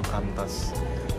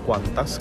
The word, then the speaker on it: Qantas: tahu nyebutnya tuh quantas ya bukan kantas Kenapa disebutnya quantas karena quantas sendiri itu ada kepanjangannya jadi kepanjangan dari quantas itu adalah e queensland and North Territory Airline service kalau gak salah tapi intinya dibacanya Q kan gitu karena singkatan dari quein Land di depannya flight gua ke per